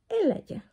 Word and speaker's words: Elijah: decir bien la regla su nombre se escribe así elija pero 6 él en realidad se pronuncia el allá y miren que cáritas